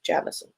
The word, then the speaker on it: Jameson: she's in Australia and she says the way to pronounce Jameson in Australia is Jamison just a bit of